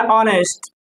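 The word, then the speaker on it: honest: इसे मान लीजिए कहा जाए एन ऑनेस्ट, एन ऑनेस्ट। अब यहाँ पे क्या है, भले यहाँ पे एच दिया हुआ है लेकिन इसका प्रोनाउंसिएशन हम आ से करते हैं और आ से आने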